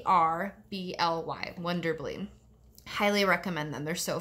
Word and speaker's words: Wonderbly: your kiddos or other kiddos in your life wonder bleah books is so rad I did this for